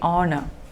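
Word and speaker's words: honour: r you know that for this word we do not pronounce the first h you just say honor honorable it is wrong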